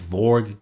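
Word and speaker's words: Volg: In an interview for another gym, we see a Russian boxer named Vorg Zang. His name is spelled V O LG, but it's pronounced with the hard R sound.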